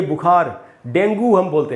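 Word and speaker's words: dengue: दोस्तों डेंगू अब चल गया अपने देश में, सब लोग डेंगू बोलते हैं इसको, लेकिन ये इसका एकदम ही गलत उच्चारण है। इसका शुद्ध उच्चारण है दोस्तों डेंगी, डेंगी। इसका एक और भी उच्चारण है, वो है डेंगे, लेकिन अब वो और भी मुश्किल है, इसलिए डेंगी ही रहने देते हैं। तो डेंगी हमको इसको बोलना चाहिए, डेंगू नहीं बोलना चाहिए।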